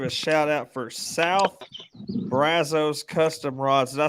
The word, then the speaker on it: brazo: you have something that's b-r-a-z-o that's brazo it's brass us like us it's how to pronounce it ain't got no it ain't got no u in it what's up i thought